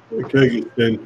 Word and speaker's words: Kyrgyzstan: I don't know how to pronounce that, Kyrgyzstan or something. Kyrgyzstan. Kyrgyzstan.